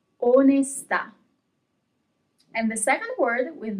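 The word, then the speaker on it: onestà: Onesta. And the second word with no accent is onesta. Onesta, onesta. Okay, so there is a little bit more emphasis on the last letter where there is the accent.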